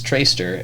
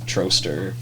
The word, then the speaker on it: Troester: your nickname oh uh my last name is is tracer and it looks like it's spelled troster so like the teachers and stuff would if they didn't know me would say you know troster it's commonly missed troaster toaster i got it